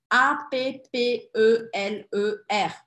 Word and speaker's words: appeler: Appeler. Porque este é o verbo no infinitivo. Infinitif. Tem dois P's, mas tem um L só. O que vai me fazer pronunciar desta forma, ó.